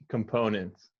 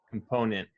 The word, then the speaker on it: component: that sounded really good components content yes now um the most common american accent will not pronounce the t at the end of words especially uh yeah words